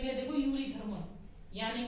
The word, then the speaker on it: Eurythermal: Yuri word कैसे आप करोगे, देखो हम लोग बायो में क्या करते हैं, यू वर्ड क्यों लगाते हैं, या सीधा बोलूं यू, क्योंकि ई तो साइलेंट है।